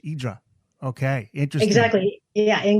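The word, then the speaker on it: Ύδρα: we always say that tourists say hydra but the natives say idra because that is the greek pronunciation yeah silent silent h idra okay interesting exactly yeah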